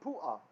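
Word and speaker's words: Puah: on top and stuff, hey oftentimes meant that this is an ah sound at the end of the word. Like to spell the name pu'ah.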